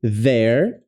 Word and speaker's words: there: É a mesma pronúncia dessa palavra aqui, ó. There. There. There there. There. Mesma pronúncia. Língua entre os dentes aqui, ó.